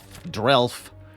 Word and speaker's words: Drelf: Drelf. Rhymes with Elf.